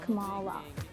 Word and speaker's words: Kamala: My name's pronounced Kamala.